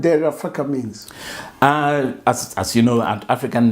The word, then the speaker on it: Derefaka: In fact, the real pronunciation is Eda Refaka. Eda Erefaka. So Eda means my father. Ere means name. Faka means it won't finish.